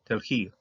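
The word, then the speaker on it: תלכי: Telhi, okay? Telhi. Yeah, you're going to pronounce this because if this would have been a short vowel, this one wouldn't have been pronounced, but telhi, this is pronounced here.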